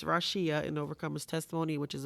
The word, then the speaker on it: Rasheea: Rasheea, an Overcomer's Testimony, and it's spelled RAW-SHE-UH, and I did that because people have such a hard time pronouncing my name. So it's Rasheea, an Overcomer's Testimony, which is available on Amazon.